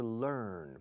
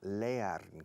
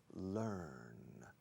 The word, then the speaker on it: learn: The verb to learn, fijaos en la pronunciación. No decimos leer como se escribe, decimos learn. Se escribe leer, pero se pronuncia learn. Rima con burn.